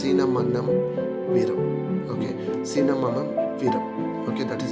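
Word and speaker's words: Cinnamomum verum: Okay, Cinnamonum virum. Okay, that is how it is pronounced.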